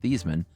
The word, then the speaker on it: Theismann: Growing up, his dad was very firm that their last name was pronounced Thiesman.